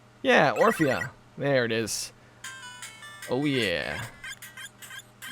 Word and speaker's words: Orphea: I think it's Orphea? Yeah, Orphea.